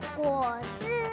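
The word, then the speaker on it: 果汁: น้ำ ผลไม้ ก็ คือ ก่ จือ นะ คะ ลอง พูด ดู นะ คะ ก จือ ส่วน คำ ว่า น้ำ เปล่า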